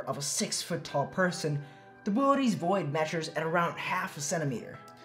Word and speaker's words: Boötes: Well, first off, it's pronounced Boötes, not boots or booties.